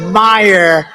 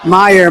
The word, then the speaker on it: Meijer: but they pronounce it Meyer. The hell kind of a spelling is that? Meer. Meer. It's Meer, but it's actually pronounced Meyer.